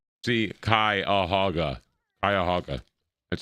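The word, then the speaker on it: Cuyahoga: Akran's past the Kuyaoga Valley see Kaaga Kayahaga that's how you pronounce that scenic railroad and the Akran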